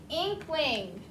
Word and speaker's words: inkling: Inkling. I-N-K-L-I-N-G. I-N-K-L-I-N-G. Inkling. That I has a long E sound.